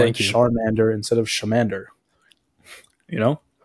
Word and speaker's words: Charmander: It's Charmander.